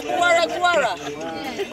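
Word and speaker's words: Gwara Gwara: Guara Guara.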